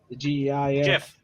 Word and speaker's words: Jif: sweeteners the GIF huh Jif is j-i-f I don't uh I don't spell that out either nope oh yeah Jeff is Jeff is Jeff peanut butter it's just Jiff y r-a-p ays thanks